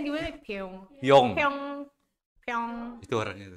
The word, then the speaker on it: Pioeng: Bacanya gimana? Pyong.